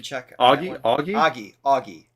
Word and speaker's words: Ogie: we going with Ogie did we get a pronunciation check a aie Augie Augie right thank you Augie yep so Augie is singing here this will